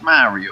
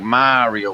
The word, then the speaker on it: Mario: be like, yeah, there's Mario over here. You know what I mean? Yeah. But where down here we're like Mario, we drag that A out a little bit longer. Yeah.